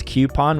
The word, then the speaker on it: coupon: That's coupon with a Q. I know it's phonetically wrong, but coupon is just weird to say.